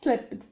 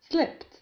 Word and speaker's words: slipped: P ثانية ثم ED، و ED هنا لا ننطقهما د بل ت، ليس slipped بل slipped، لأن قبل ED يوجد حرف P، وحرف P يسمى unvoiced consonant أي حين ننطقه لا تهتز الحبال الصوتية في الحلق، فبالتالي حرف P يجعلنا ننطق هنا ت slipped.